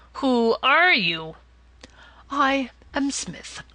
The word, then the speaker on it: Psmith: are you I am Smith said the old Aton reverently there is a preliminary P before the name this however is silent I like the tomb